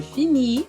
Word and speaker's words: finis: Então, S e T não são pronunciadas. Por isso que eu falo je finis, mas a sílaba tônica é a última.